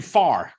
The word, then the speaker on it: Farr: our veterans named andrew farr uh even though he spells it like pharaoh brothers he pronounces it far andrew's with the vfw